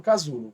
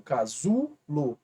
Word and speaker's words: casulo: excesses at terminadas em aeo como por exemplo casulo casulo aula é a mais forte essa sílaba ela é uma paroxítona porque a penúltima